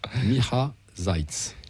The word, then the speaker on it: Miha Zajc: Miha Zajc. D'ailleurs, on a une montée de Slovènes là, qui s'abonnent, mec. C'est, Donc, je répète, Miha Zajc.